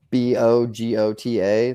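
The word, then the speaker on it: Bogota: U bogot Columbia okay so you want the bagota type pcks or bogot I guess if you want to pronounce it like it's in Columbia but uh those picks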